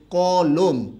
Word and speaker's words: কলম: যে আমাকে একটি কি কলম দাও কলম নাকি কলম কলম শেষের ম টা কিন্তু আমরা উচ্চারণ করি না ঠিক আছে সবাই কথা